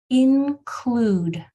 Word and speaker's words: include: So you're seeing that U, consonant, E, which is what our lesson was on today. U, consonant, silent E. Beautiful. Okay, that one looked easy. So that silent E on the end is making the U say its name. It's making that U say ooh. That's its job.